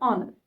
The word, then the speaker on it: honor: with a vowel but remember the words that start with a consonant sound but the consonant remains silent and the word itself gives the sound of a vowel there we have to use an for example an honor it was an honor